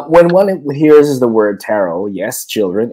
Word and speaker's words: tarot: one hears the word tarot yes children it is silent T please do not pronounce or pronunciate the T at the end the impression that most